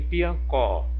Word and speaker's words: Piancó: Em piancó, piancó, piancó, é o có.